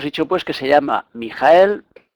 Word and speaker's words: Mihael: pues que se llama mijael si lo separamos en tres sílabas será mi mija mijael su número es el 48